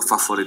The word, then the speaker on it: favorite: A favorite city because of the weather. Favorite, 3 syllables, but we say favorite. It sounds like it's only 2 syllables.